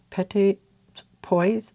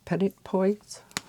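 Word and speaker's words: petits pois: how to pronounce this Petit Poise Petit Poise all right I know there's an s in there but I'm thinking it might be silent pretty olive green gy42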